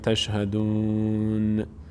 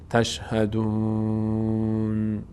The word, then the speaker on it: تشهدون: اقررتم وانتم تشهدون نون حرکت پیدا نکنه تشهدون همین که مخرج نون رسیدید صدا رو متوقف کنید نشه تشهدون بعضی از عزیزان اینطور تلفظ می‌کنن میگن میگن میگن تشهدون یک حرکتی آخر به نون میدن نه تشهدون آی